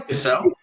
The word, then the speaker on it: Cassel: And Vincent, and Vincent, what Cassell or Castle? How do you say it? Castle? Vincent Castle? Cassell.